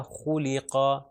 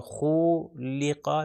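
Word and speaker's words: خُلِقَ: تو اس کا تلفظ ہو جائے گا خولیقا، خولیقا. اس کو لمبا بھی نہیں کرنا. اگر میں کہوں خولیقا تو یہ بھی غلط ہو جائے گا، ملٹیپلائی بائی 1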